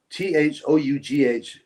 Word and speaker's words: though: Even English is quite odd for some foreigners because though t h o u g h is pronounced though.